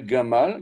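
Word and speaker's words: גמל: Gimel, Mem, Lamet, Gimel, Gamal, Gamal, Gamal.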